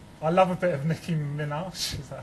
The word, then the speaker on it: Nicki Minaj: got this one I love a bit of Nicki Minaj is that how you say it I don't know Dan how' you say is it Nicki Minaj yeah thank you uh I've got all our